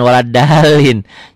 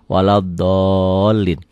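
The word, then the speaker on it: ولا الضالين: Ghairil maghdubi alaihim waladdo, jangan waladalin. Jadi imam baru pakai Latin bacanya. Ghairil maghdubi alaihim waladalin, amin, salah gitu ya. Waladdallin, amin.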